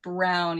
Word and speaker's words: Braun: of habit, but uh her name is actually Brown even though it is spelled like Braun because she's from New Zealand.